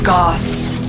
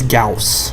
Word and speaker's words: Gauss: This is Gauss, and thank you, Quite Shy, for informing me that it's pronounced Gauss instead of Gauss, because I was honestly